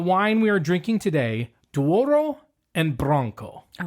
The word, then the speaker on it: Douro: Dwarro and Bronco.